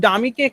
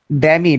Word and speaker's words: dummy: এই ডামিকে কেউ কেউ একটু বিকৃত রূপে অন্য একটা ভাষা বলে, বলো তো কি বলে? ড্যামি। ইয়েস ইয়েস, তাহলে সঠিক প্রোনাউন্সিয়েশনটা কি হবে? ডামি। This is DUMMY, ডামি।